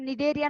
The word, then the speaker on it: Cnidaria: So Cnidarian வரும்போது just remember Cnidaria C is a silent one.